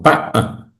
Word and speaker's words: Pa'a: Anaki, Pa'a, así suena, así se escribe Pa'a. Mm, Boca larga, saltillo ya. Hay una oclusión. Pa'a.